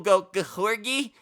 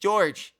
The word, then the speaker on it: George: it correctly George marison I had people goergy I don't know how you don't it's just George it's just George marison it ain't that hard it ain't that deep but we did see